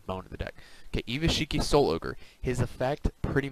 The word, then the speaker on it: Gishki: Gishki Shadow and Gishki Fushigi Gishki, they're pronounced Gishki, I just call them Gishiki, whatever.